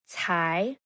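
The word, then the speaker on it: 财: This character is cai, cai, second tone.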